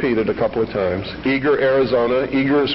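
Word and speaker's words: Eagar: I'll repeat rep it a couple of times eager Arizona Eager is spelled e a g a r Arizona 85925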